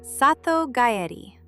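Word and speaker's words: 里帰り: The answer is called sato gayedi pronounced sato gayed.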